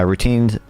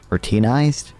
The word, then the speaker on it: routinized: economies whose jobs can be uh routined uh routinized routinized is how you pronounce that how do you move